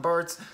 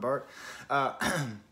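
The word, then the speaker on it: Barthes: what i feel reading as zed by roland burts when i'm did i pronounce the s on there i'm a french professor roland bart in art it happens you know whenever i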